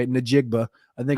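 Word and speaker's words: Njigba: you say it so the N is silent it's a half silent n ah what what Jackson Smith and jigba jigma that's what I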